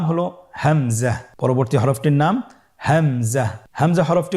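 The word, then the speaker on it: همزة: হামজা পরবর্তী হরফটির নাম হামজা হামজা হরফটি উচ্চারণের ক্ষেত্রেও বারিক করে উচ্চারণ করতে হবে এবং এখানে টেনে পড়া যাবে না দ্রুত পড়তে হবে আপনারা আমার সাথে বলুন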